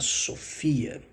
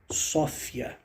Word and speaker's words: sofia: Aliás, você talvez deve ter visto alguém alguma vez já também pronunciando essa palavra não como Sofia, e sim como Sófia, né? Depende muito. Eu já vi dicionários que mostram Sofia, outros que mostram Sófia, mas o importante para